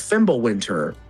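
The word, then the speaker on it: Fimbulwinter: I do actually know the proper pronunciation cuz it's not a W sound. It's more of a V.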